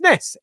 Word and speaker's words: Ness: My name is pronounced this, hiss, or miss, so it's Ness.